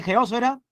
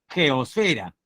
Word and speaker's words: geósfera: Tengo su aval, joven, y su permiso de llamarle en clase geósfera, tildada en la O, al menos fonéticamente. Espero que sí. ¿Ah? Aunque dice la RAE que se escribe sin tilde. Geosfera. No sé, me suena medio raro, ¿no? La geosfera, parece otra palabra. Ya. No, no, yo me quedo en geósfera.